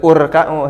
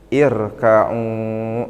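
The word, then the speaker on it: ارْكَعُوا: Kalau dipotong gini urka'u, irka'u apa arka'u. Ini kalau fi'il amr asal katanya irka. Nah, irka'u berarti kalau dipotong tadi, kalau saya bacanya dipotong-potong berarti henteu janten urka'u, henteu mengikuti domah di sini, tapi irka'u.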